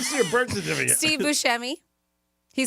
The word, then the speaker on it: Buscemi: Growing up, though, his family pronounced it Buscemi. Buscemi. Okay. Buscemi, yes. So he said that's like the Sicilian pronunciation of properly how to say it.